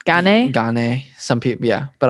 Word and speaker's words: Gane: because do people say gun gane some people yeah but i just think of it as like serial gun you got a cereal and a gun see a real gun